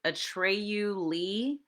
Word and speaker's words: Atreyu Lee: I believe this is Atreyu Lee. Yes, that's how you pronounce it.